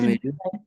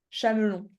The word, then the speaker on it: chamelon: sais où tu dis Camélu. le Camélu. chamelon? Ah. Camel, c'est en anglais que tu vas le dire. En français, ça se prononce chat. Ah. OK? Chat. Chameau, chamelle, chamelon.